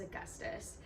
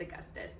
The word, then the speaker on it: Augustus: say his name is Augustus I'm pretty sure it's Augustus yes Augustus in January I always want to call him like August period but it's Augustus or Gus I really love